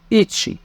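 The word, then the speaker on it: いち: عن اللغه اليابانيه عشان نفرق بين النطق الصح والنطق الغلط نبدا برقم واحد ونقول اتش رقم اتنين ني ني رقم تلاته رقم اربعه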